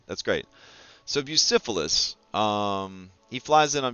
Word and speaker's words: Bucephalus: to pronounce hold on how pronounce bucephalus bucyphilis okay so it is like the STD that's great so busyphilis um he flies in